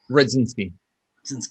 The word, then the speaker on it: Rudzinski: covering so how do you say it properly speed since okay and and where do people find you